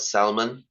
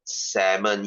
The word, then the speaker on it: salmon: word guys it's not salmon you know every time I hear salmon I freaking feel like I want to slap that guy it's salmon yes it's salmon the L is silent for God's sake please don't say salmon